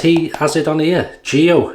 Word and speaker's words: Geo.: be what's he say george or something i pronounce it as he has it on here geo he wants to be known as geo f trumper so geo it is thank you geoff jumper